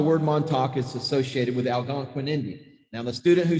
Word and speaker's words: Algonquin: The Montauk Indians were considered Algonquin Indians. Algonquin, that's spelled A-L-G-O-N-Q-U-I-N, Algonquin. So the word Montauk is associated with Algonquin Indians.